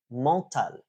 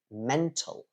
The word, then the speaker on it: mental: that I heard recently was malal uh instead of mental right m n t a l mental um uh what's another